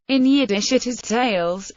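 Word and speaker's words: tallis: in yiddish it is tails with the stress on the first syllable the plural of talat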